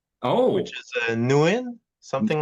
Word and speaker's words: Nguyen: Uh, actually, uh, you don't pronounce the G. Oh, which is Nuin. Something like that. It's Newin.